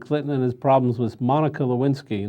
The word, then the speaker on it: Monica: And the other is President Clinton and his problems with Monica Lewinsky, not Mona. I'm sorry, I mispronounced the name.